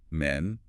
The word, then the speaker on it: men: But the plural men has a short a sound like egg or bed.